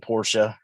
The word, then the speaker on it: Porsche: Another mispronunciation is Porsche. Yeah, I know people do say Porsche.